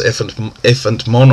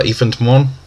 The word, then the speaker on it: Ephant Mon: Of course, Ephant Mon, or Ephant Mon. I'll show you how you want to pronounce that.